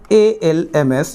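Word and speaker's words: alms: English में कहलाता है आर्म्स एम्स जहां पर एल साइलेंट मोड पर है जब साउंड करेंगे आप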